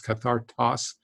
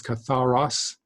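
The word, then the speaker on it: καθαρός: I think I mispronounced it in a previous lesson as kathartos. It's katharos.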